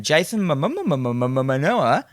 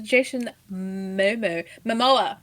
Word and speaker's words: Jason Momoa: Jason Momoa. Yes, Jason Momoa.